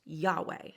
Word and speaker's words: Yahweh: divine name, often spelled and abbreviated as YHWH, pronounced Yahweh.